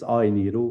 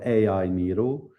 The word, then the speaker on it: AINIRO: And the pronunciation is AINIRO or AINIRO, There we right? go. So think Robert De Niro, and then you exchange it with AI.